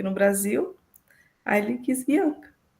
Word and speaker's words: Bianca: Acho que agora é a última, eu vou ver se eu vou pronunciar corretamente o nome, Bianca, se pronuncia como se lê? Exatamente, é Bianca.